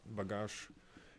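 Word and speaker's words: багаж: soft their language is very soft stuff but bagash it's you have to pronounce is more harsher more stronger and yes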